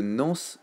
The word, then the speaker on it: Nans: Et n'oubliez pas d'aller checker la chaîne YouTube de Nance Chartier, N-A-N-S Chartier, comme ça se prononce.